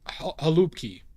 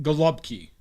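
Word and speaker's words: gołąbki: So the I've heard it pronounced galupki. Gulpki gulubki like that from Polish people. Not with an h, with a g. More of a g sound.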